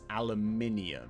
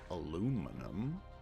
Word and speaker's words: aluminium: Sodium hydroxide plus aluminium. So I'm going to need to harvest some aluminium, which I refuse to pronounce any other way, because it's not aluminum, because that sounds horrible.